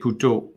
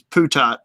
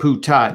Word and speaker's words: Putot: I did take Putot. I believe the proper pronunciation, and I'm sure Brian can back me up on this, is Putat. I did take Putat.